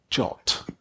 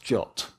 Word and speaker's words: JWT: of them which is JWT which is pronounced jot I have no clear way you remember that whole gif gif think JWT is pronounced jot it was so important